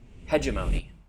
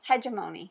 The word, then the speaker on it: Hegemony: it's not root I'm going to continue to pronounce it incorrectly just to annoy rolling Reggie okay uh and that is hemony not hegemony according to Rolling Reggie oh he says hegemony it's that's the actual pronunciation hegemony but we're going to continue saying Hony because